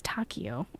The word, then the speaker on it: Takeo: Oh, it's Takeo. Okay. I thought it was Spanish.